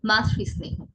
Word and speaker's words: মাতৃস্নেহ: বিষবৃক্ষ, বিষবৃক্ষ, মাতৃস্নেহ, মাতৃস্নেহ নয়, কি হবে? মাতৃস্নেহ, মাতৃস্নেহ।